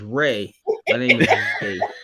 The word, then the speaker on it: Ry: and your name is my name is Ray get it right and your name isn't